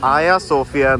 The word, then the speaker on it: Ayasofya: We could have walked The tram is something God showed us You can see flowers down here Though we write it as Hagia Sophia, it is pronounced as Ayasofya That is what is written here.